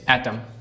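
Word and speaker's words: autumn: जैसे एटम शरद ऋतु। अब इसमें जो एन है वो क्या है? साइलेंट है।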